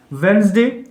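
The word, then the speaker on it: Wednesday: ये वेडनेसडे है, डी में साइलेंट रहेगा, वेडनेसडे।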